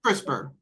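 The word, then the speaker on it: CRISPR: Crisper is the one that got has gotten a lot of publicity.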